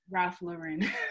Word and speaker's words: Ralph Lauren: How you pronounce it? Ralph Lauren.